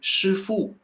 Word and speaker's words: Shifu: the resident of master there and you say shufoo by context people know you're not talking about